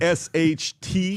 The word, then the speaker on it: Rasht: R-A-S-H-T. He's got a summer Iran. place Iran. there. He knows how to spell it.